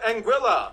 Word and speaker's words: Anguilla: havens first we have anguilla yeah that's how you pronounce it named after the spanish